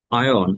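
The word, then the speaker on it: iron: আয়ন, এটা আয়রন বলা যাবে না, উচ্চারণ হচ্ছে আয়ন।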